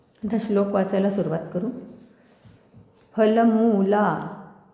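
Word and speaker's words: फलमूलाशिनौ: श्लोक वाचायला सुरुवात करू फलमला मुला दीर्घ हे आहे दीर्घ उच्चारण आहे फलमला शी रसवाय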